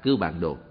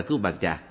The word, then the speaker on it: Cư Bàn Đồ: Đúng ra những chữ này phải đọc là Cư Bàn Đồ. Nhưng hiện nay những người tụng chú đều đọc là Cư Bàn Trà. Có lẽ Cư Bàn Đồ cũng biết mình bị đổi tên rồi. Do vậy, quý vị có đọc là Cư Bàn Trà thì cũng được linh ứng như nhau.